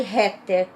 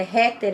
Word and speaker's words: heter: às vezes eu escrevia, por exemplo, Jeg heter, que é heter, é com H, Com né? H, Aí eu escrevia com R, porque na pronúncia igual é eu heter, ouvia. né? Assim, eu você ouvia, eu escrevia igual eu ouvia. E o R aqui, o H aqui se pronuncia na maior parte, Das vezes com som de R.